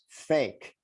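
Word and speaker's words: PHEIC: ph emergency e-i-c uh if you pronounce that it's pronounced as fake uh and what's the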